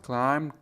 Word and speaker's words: climbed: The girls climbed to the top of the mountain. اون دخترها از اون کوه بالا رفتن یا صعود کردن. دقت کنید در این کلمه بی تلفظ نمیشه.